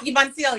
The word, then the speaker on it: Voncille: How are How you, Voncille? Did I say your name right? Huh? Voncille, yeah.